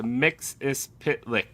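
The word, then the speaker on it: Mxyzptlk: It's pronounced Mixis Pitlick.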